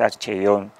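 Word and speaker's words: ἀρχεῖον: al mundo occidental el término de archivo, es archeion, como se pronuncia la palabra.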